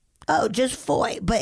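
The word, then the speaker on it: Fowey: Tonight I'm staying in a town called Foy. Oh, just foy, but it's like f O w y but pronounced foy.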